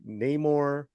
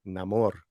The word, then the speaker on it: Namor: a Spanish word like Namor right you know but it seems like that would be more normal for English as well because we usually put the emphasis on the second vowel right there you go